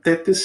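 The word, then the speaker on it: thetes: Tetes se escreve th e t e s, tetes, né?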